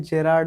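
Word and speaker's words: Gérard: जेराल्ड नहीं है, जेराल्ड नहीं है, जेरार्ड है।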